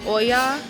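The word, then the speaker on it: Oia: got to they said it's pronounced Oya I don't know it's spelled o i a at the Goldwin um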